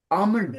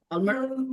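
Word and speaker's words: almond: अच्छा, आमंड, हाँ, आलमंड एल नहीं बोलना। एल साइलेंट होता है सर।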